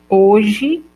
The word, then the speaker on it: hoje: Uma letra pode não representar nenhum fonema, como ocorre com a letra H, não pronunciada desacompanhada de outra consoante, como hoje ou humanos.